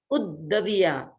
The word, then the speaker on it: उद्दविया: अब दो द हैं तो एक द को ऊ के साथ बोल देंगे तो सही सही उच्चारण हो सकता है, उद्दविया।